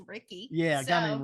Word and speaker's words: Ricky: his name rhymes with Mickey. It's Ricky.